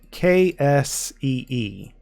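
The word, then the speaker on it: ξ: up with C so try to say taxi without the T in the a and that's how you pronounce this letter now even though this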